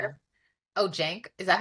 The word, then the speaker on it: Cenk: oh, Cenk, is that how you say it? Hmm. Oh, okay, Cenk.